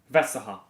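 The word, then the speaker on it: Vestergaard: is actually pron pronounced Vesta because you don't pronounce the r or the D M at the cross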